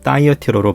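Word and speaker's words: Thyatira: 알아보겠습니다 먼저 두아디라 교회입니다 두아디라는 영어로는 다이어티로로 발음되며 버가모와 4대 사이의 교통의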